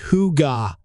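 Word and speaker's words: hygge: stands out is the concept of heigi pronounced Huga haigi represents coziness comfort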